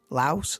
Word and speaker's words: Laos: Laos. La. I'm great on the pronunciations. I got a clue, mate. I've got a clue. It's Lao. You don't say the S.